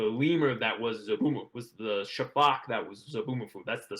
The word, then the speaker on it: sifaka: Was the lemur that was was the shafak that was Zaboomafoo. That's the species, a shafak lemur. SIFA. It's SIFAKA. It's like Shafaka, but it's actually pronounced Shafak.